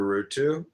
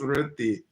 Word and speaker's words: Rutu: Her name is Aruti, and I was calling her Rutu. But her name is pronounced Ruti. Ruti, R-U-T-I. R-U-T-U is how she spells it, but she says it's pronounced Ruti.